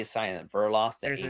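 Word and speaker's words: Verdeloth: one no it's a burloff it's burloff the D assignment burloff there's a d I know the D is silent ancient uh yeah for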